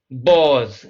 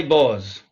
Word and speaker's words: Boz: about the city, and he signed these sketches Boz, B-O-Z.